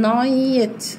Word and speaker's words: night: at night احنا قلنا ال جي اتش مش هتتنطق هنقول night. night لانها long i.